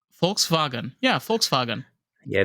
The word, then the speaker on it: Volkswagen: yeah, it's, they're like, oh, it's Volkswagen. No, it's Volkswagen. No, it's Volks, right? Volkswagen. Yeah, Volkswagen. Yeah, the W is a V.